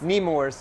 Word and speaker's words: Nemours: at uh numos and did i say it right nemo's nemours need more see i'm still learning